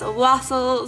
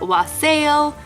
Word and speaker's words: wassail: Now, some people pronounce this wassail, some people pronounce it wassail, but it's basically a spiced holiday drink.